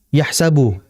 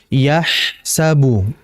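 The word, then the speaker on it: يحسب: Bukan dibaca yahsabu. Itu terlalu cepat. Jadi harus dialirkan yahsabu.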